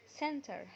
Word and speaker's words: center: اخر معلومة هناخدها عن حرف التي ان حرف ال N لو جه بعديه حرف التي مش بننطق حرف التي وبنكمل كلامنا عادي ولا كأنه موجود. زي كلمة internet. internet هتبقى internet internet. كلمة center. center هتبقى center center.